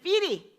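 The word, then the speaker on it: fiere: Anyway, but in this poem, I pronounce it Feary, because it gave me more rhymes.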